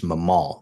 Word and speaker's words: Mamal: I think it's Mamal, which means the emphasis is on the second syllable of your name.